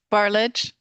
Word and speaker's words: Barlage: How do you pronounce the last name? Barlage.